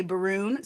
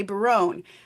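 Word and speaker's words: Berowne: So some people want to say Baroon, some people want to say Barone. I had a director who wants to say Baroon because it rhymes with moon, and those two things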